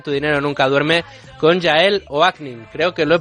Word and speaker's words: Yael Oaknin: Hablamos ya en Tu Dinero Nunca Duerme con Yael Oaknin. Creo que lo he pronunciado bien, Yael.